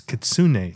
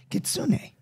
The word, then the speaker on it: Kitsune: wrong I love it so it is probably gosh it's katsune too Kitsune yeah great although you can find both pronunciations but you said pronunciation pronunciations